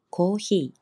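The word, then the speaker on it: コーヒー: 관한 표현들 배워보고자 하는데 먼저 커피 발음은 아시겠죠 고희 고희 고희 이렇게 하시면 되고 따뜻한 커피 커피는 어떤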